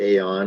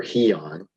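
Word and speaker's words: αἰών: is Strong's number g165 Aon pronounced either Aon or heon it's used 128 times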